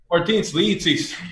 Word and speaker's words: Martins Licis: Martins Licis. Licis. Okay. Martins Licis. Licis. Yeah. Like the fruit.